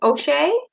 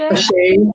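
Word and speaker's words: àṣẹ: So you mentioned the word, is it O'Shea? Ashe? Ashe, yeah, Ashe, or it's spelled ASHE with a schwa over the E, or ASE, both ways.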